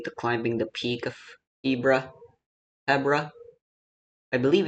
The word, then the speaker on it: Hebra: I believe it's Hebra uh in Zelda's voice acted notes released for the Switch 2 versions. Uh, she specifically calls this Hebra. I believe that that is the proper way to pronounce it.